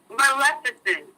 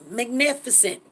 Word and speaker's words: Maleficent: How you say it? Say it. Maleficent. Queen Magnificent. Maleficent, right? From the Disney movie Maleficent.